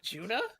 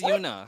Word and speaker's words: Yuna: You guys call Yuna Juna? Is it Juna? Is it Yuna? Bro, it's Yuna.